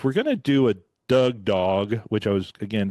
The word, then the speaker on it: Dug: It's spelled differently than Doug Cornfield. It's spelled D-U-G. Doug, D-U-G, for the dugout movement.